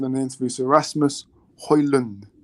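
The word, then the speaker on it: Højlund: in the interviews Erasmus hoyland hoyland so apparently the D is silent so it's then um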